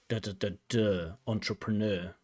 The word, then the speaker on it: entrepreneur: It should be da-da-da-da, entrepreneur.